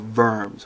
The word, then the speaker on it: Worms: r o r Ms excuse me it's not the Council of vers it's the diet of vers which means counsel diet